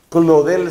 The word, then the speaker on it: Claudel: ese hombre se llamaba Paul clodel clodel se escribe claudel Paul clodel No Solamente